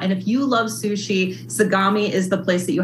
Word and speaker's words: Sagami: Sagami. You are correct. Yes. In Collingswood is this delightful sushi restaurant. And if you love sushi, Sagami is the place that you have to go.